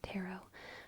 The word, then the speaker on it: tarot: it like like that tarot some people say tarot tarot tarot both are fine both are A+ what is not okay is tarot tarot you the the last T is definitely silent everyone agrees on that